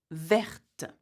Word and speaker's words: verte: Also, not only the spelling changes, the pronunciation does too. Okay, so for example, you would say petit, petite, vert, verte.